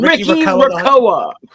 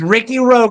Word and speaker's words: Ricky Roa: I've been I've found out that I've been saying Rickya ROA. It's Ricky Roa.